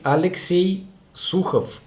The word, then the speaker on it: Alexey Sukhov: is your actual name my actual name is alexey sukhov this is how it should be pronounced full name is alexey not alexander hello bro how much